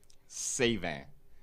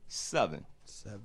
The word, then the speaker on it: Sevin: the world to pronounce my last name correctly it's kind of hard in the French term yeah so in English seven exactly so and on